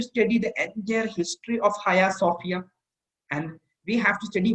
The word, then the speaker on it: Hagia Sophia: And Hagia Sophia, the exact Turkish pronunciation is Hagia Sophia.